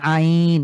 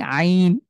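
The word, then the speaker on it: عين: আমরা এই হার মতনই আইন আ কণ্ঠ এটা কণ্ঠ বর্ণ হলক থেকে উচ্চারিত হয় হলক মানে হলো কণ্ঠ তো আমরা কন্ঠের মধ্যে চাপ দিয়ে যেভাবে হা উচ্চারণ করি ঠিক একই জায়গা থেকেই আইন উচ্চারণ করব আরেকবার ট্রাই করেন আইন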